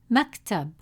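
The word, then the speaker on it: مكتب: The sukun is placed on the letter calf. This means the sound stays still with no vowel after it. You'll hear a brief stop before moving to the next part of the word.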